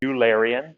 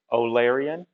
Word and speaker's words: Eulerian: is called uh and you think it would be eulerian but it's actually pronounced olarian i believe the mathematician